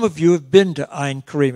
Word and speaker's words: Ein Karem: you have been to ein Karem it rhymes with ice-cream and the best ice